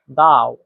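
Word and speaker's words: 到: থেকে নিচে যাও যাও তারপরে দেখেন দাও দাও এটাতে চাইনিজের চার নাম্বার টন ব্যবহার করা হয়েছে আর চার নাম্বার টন উচ্চারণ নিয়ম হচ্ছে সোজা নিচের দিকে নামা এটা জোরে নিচের দিকে নামবে দাও দাও দাও যাও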